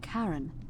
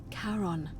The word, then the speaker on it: Charon: It's just as you described it, only your pronunciation is a little off. The name you heard wasn't Charon. It was C-H-A-R-O-N, as in Charon, the ferryman of the dead.